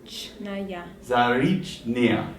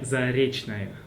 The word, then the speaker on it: Заречная: The last sound is like Заречная. Russian language is good because we pronounce all the sounds. Like if you see A, it's A. In this case, it will be Заречная.